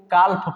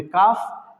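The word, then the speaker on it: calf: इसको काल्फ पढ़ते हैं, काल्फ, जो कि गलत साउंड है। क्यों? क्योंकि एफ से पहले आया एल साइलेंट होता है, तो इसलिए इसको पढ़ेंगे काफ, इसको पढ़ेंगे हाफ।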